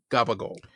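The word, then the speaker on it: gabagool: It's CAPPACIOLI. Somehow that becomes gabagol.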